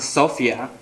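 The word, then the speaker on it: σοφία: The Greek word pronounced sophia, or knowledge, is written on the scroll.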